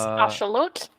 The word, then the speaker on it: axolotl: axolotl. Very nice. That is Nahuatl. It's Ashalot or Ajalote, if you want to use the Spanish.